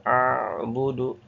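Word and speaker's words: أعبد: Nastainu nastain la a'budu a'budu a'budu jangan la a'budu la a'budu. Nah a'budu itu syiddah tidak ada tawasudnya. La audu seperti itu ya. La a'budu. A'budu. Nah, gitu bacanya.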